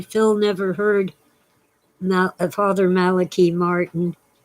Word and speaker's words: Malachi: never heard about father maliki martin it's spelled like malachi but it's his name and he always pronounced it malaki he was irish he